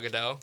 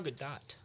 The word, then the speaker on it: Gadot: I thought it's Gal Gadot. You don't say the T.